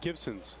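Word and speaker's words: Gibsons: how are we doing where where is gibbons is that near uh vancouver gibson's sorry that's all right it's been mis it's been mispronounced before it's uh it's a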